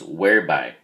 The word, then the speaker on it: whereby: I go over it two syllables the first syllable is where and the emphasis is unaware so it's whereby and it's what we